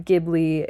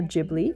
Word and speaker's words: Ghibli: I really enjoy his videos on Gibli and um or Ghibli if you say it like that. That is also fine.